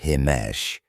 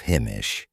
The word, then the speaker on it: Himish: For instance, many people mistakenly call me Himesh instead of Himish, which I don't appreciate.